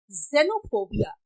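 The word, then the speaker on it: xenophobia: Pronunciation ले ले रहा, देखो जेनोफोबिया एंड एक्सरे, यहां पर एक्स है लेकिन यहां पे ज का प्रोनाउंसिएशन ले रहा है।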